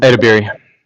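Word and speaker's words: Edebiri: She beat Kristen Bell, Quinta Brunson, Ayo, I can't even pronounce her name. Edibiri.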